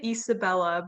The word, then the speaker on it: Isabella: pronounce your first name i pronounce it isabella but i also go by so oh wow that's